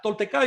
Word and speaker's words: tolteca: la palabra y recuerden que las palabras en aguas de dos sílabas en adelante todas son llanas en si se pronuncian en la penúltima sílaba se producía el acento la tolteca yo deriva de toltecas